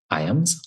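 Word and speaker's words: Ijams: center okay was it I AMS is that how you pronounced that yes I did yes that is where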